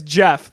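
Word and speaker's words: Gef: His name is Jeff, but it's spelled G-E-F.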